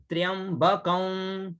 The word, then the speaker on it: त्र्यंबकं: रखा है ना, त्र्यंबकं, ये देखिए अगर दिख रहा है ये चंद्र बिंदु को ऐसे प्रोनाउंस करते हैं कौन, मतलब नासिका से उसका उच्चारण हो, है ना, अनुस्वार, ये